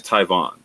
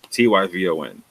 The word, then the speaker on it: Tyvon: So my name is Tyvon, Tyvon. It is an English rendition of a Hebrew name with a B, right? Tibbon, right? Tibon, right? And in fact, if you say my name in Spanish, it's Tibon. It's almost the same as in Hebrew, right?